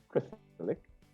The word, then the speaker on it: Christelike: It's pronounced Christelike. It's actually spelled like Christ-like, but there's an E between Christ and like, right?